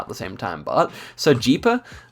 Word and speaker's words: Sergipe: the same time, but Sergipe, I guess it's actually Sergipe, right, in Portuguese. I don't know. I always thought it might be Sergipe, but I guess not.